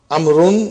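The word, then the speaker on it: عمرو: As you can see the proper name Amun is written with W which is not pronounced.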